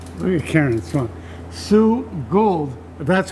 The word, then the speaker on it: Goold: so sue you're carrying it son sue gold that's how you pronounce it yes cuz I was calling you like Golder Oh to gould yes Gould orchards correct